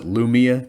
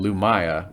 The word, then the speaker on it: Lumiya: so it's pretty cool i guess you can pronounce it lumia too it's l-u-m-i-y-a i've got two different versions of the legacy of the four series both unabridged and abridged and mark thompson he's he pronounces her name lumaya which i i tend